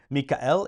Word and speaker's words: Michael: sanctify or Sanctuary from Mikel is how you would say it in Latin but it's Michael and it's spelled exactly the same way Archangel of course means